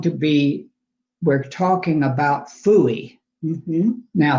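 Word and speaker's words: FOOIE: chat is going to be we're talking about phoey now phuy is spelled f o o i e which stands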